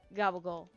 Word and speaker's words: gabagool: It's Capicola, but it's Gabagool. If you want me to say it like New York or New Jersey, Gabagool.